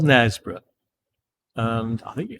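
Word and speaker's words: Knaresborough: want to check out nesboro it's spelled with a k by the way k n a r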